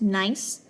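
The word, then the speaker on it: gneiss: G NE I SS it's pronounced nice um that is when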